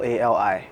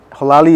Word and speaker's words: Xorlali: Xorlali. So Xorlali is from the Ewa tribe, from the Volta region. So yeah, our names are spelled, when it comes to X, it's pronounced H in the Ewa alphabet, Right, yeah.